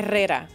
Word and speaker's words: Herrera: Yeah, pronounce it the correct way. Herrera. Okay. I just can't roll my tongue like and that.